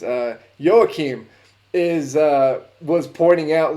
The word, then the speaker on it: Joachim: hey joaquin's like uh sorry joaquin's the way that this name is pronounced here in texas uh joachim is uh was pointing